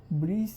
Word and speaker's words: Briseis: Correct pronunciation. I don't know if he did it or not, but I think it's like this: Briseis with Achilles, and Chryseis with Agamemnon , and then they decide in the final.